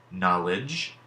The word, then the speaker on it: knowledge: digraphs borrowing its sound so let's look at these three words judge knowledge and edge when we are writing these words as we hear them the sounds that we hear it then we end up with judge knowledge and edge each of these has the J sound at the end that